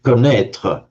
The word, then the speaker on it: connaître: And in French, connaître. Again, you drop the G, but write it with a double N in French. Connaître, which is from that same root.